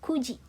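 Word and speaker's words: くじ: Jam 8 hachiji, jam 9 kuji. Hai, bukan Q tapi ku, kuji.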